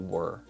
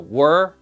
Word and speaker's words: were: So were, is a W, ER, and then again there's that silent letter at the very end. It's not a bopper, it's an E. Were.